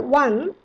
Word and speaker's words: one: The word one is pronounced like one in WON.